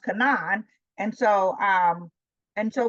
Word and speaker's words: Canaan: As we say Canaan, his name is pronounced Cananan.